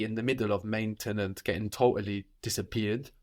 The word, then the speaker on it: maintenant: Now in French is maintenant or maintenant. So you can hear both. You can hear that E in the middle of maintenant getting totally disappeared, like in maintenant.